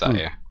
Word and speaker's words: Io: Because yeah, I always looked at it and pronounced it low, and then got corrected saying it's an I, not an L, which is obvious.